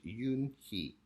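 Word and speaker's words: Unhei: Kim and then turned to Joey she nodded slowly yes it's pronounced Yoon hee it means grace mr. Kim added Yoon hee Joey said slowly this time perfectly it made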